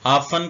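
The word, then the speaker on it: often: बुगल गीर होना गले मिलना या आबाद होना आन का मतलब होता है अक्सर टी साइलेंट है आन रसल टी भी साइलेंट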